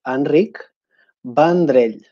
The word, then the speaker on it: Enric Vendrell: My name is Catalan and it's pronounced Enric Vendrell.